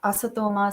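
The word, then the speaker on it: असतो मा: Every single word was mispronounced. Asatoma, satgamaya, everything was a hard T.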